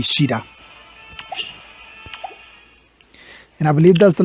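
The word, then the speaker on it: Caeda: And we get Sida, officially now pronounced Sida, even though it's supposed to be Shida.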